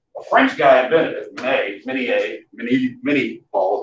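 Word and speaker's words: minié ball: But nonetheless, these heavy lead bullets that are conical, a French guy invented it, mini ball, how they pronounce it, mini.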